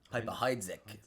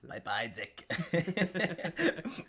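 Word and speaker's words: Piper-Heidsieck: a message from Piper I always pronounce this wrong Piper Piper Heek Piper Heek it's actually French um you they mess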